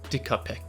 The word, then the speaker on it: Dicapac: below so basically i actually had this uh dicker pack this is actually a korean brand you know my people just going to take credit for that and it actually is pronounced decapec originally when i got my hands on this